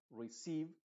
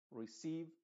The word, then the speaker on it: receive: lo vas a notar se diría receive porque la e se está pronunciando con su sonido original de i receive deceive silen se leiser